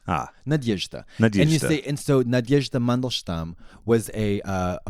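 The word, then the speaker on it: Надежда: uh-huh okay East 8th it's three syllables nod nod yesh yeesh dah dah Nadezhda Nadezhda perfect ah Nadezhda instead Nadezhda Mandelstam was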